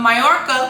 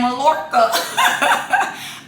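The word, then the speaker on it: Mallorca: and then when I go to mayorca which I was saying malca I have a good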